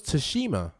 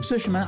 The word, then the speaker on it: Tsushima: I thought it was Tsushima. I thought it was Ghost of Tsushima. Have I been saying it wrong the whole time?